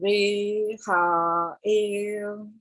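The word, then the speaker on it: Rehael: So in an American, you would sound it differently, but the sound for Reha-el is that, like rehabilitation, same thing.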